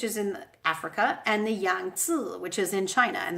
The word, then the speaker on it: Yangtze: in Africa, and the Yangtze, which is in China. And that is how you say that in Chinese, by the way, not Yangtze, which is how Americans say it, but the Yangtze.